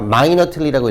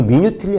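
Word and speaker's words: minutely: 자 마이너트ly라고 읽어야 돼. 마이너트ly 따라해 봐. 마이너트ly리 이거 미뉴틀리 아니다.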